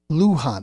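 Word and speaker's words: Luján: the middle name what's the governor's name lujan-grisham Luhan ok lujan-grisham tells Senate leader to leave race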